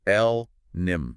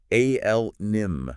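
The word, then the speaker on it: allonym: It's l nim. You really want to hit that first syllable. A l nim.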